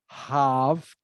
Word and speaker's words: halve: Dramatically, jump, halve, rapid, and plummet. Remember this word halve, by the way, the L is silent.